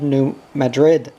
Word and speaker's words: New Madrid: Off went Daddy and Mamma in the Houseboat to the town of New Madrid, pronounced New Mad-Rid.